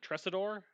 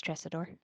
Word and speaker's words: Tresidor: undying home island of Tresidor. Uh, Tres, how do you pronounce it, Elo? You're here. Uh, yeah, it's, you said it right. It's Tresidor. Tresidor.